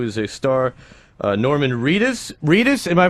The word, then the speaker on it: Reedus: patrick flannery who is a star uh norman reedus reedus am i pronouncing that correctly yeah reedus who was a star in billy connolly a